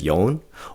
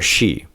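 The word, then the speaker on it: 四: It can either be said as yon or she.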